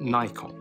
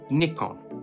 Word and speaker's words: Nikon: i said nikon not nikon so let's just settle this dear americans it is pronounced nikon short for nippon kogaku not naipon kogaku there you go i'm